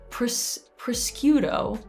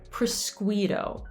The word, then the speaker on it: prosciutto: is this word and i have heard it pronounced prosciutto i've also heard presquito which is very interesting some people if they get a bit closer might say prosciutto but again it's the same problem we have at the flat tea